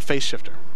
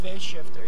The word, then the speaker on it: Phase Shifter: And so your album for Face Shifter. Am I saying it right? Phase Shifter.